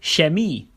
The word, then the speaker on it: Chemie: is at the start it can be sh for example Shi meaning chemistry or Shen is meaning Chinese